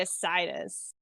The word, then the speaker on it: Isaidus: I just say Isaidus. Isaidus. Yes. Yeah, because you call him Sai, so Isai.